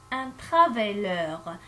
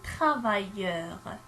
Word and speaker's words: travailleur: Si j'écris une seule, je vais le prononcer un travailleur. Alors, c'est faux. J'écris deux L, un travailleur.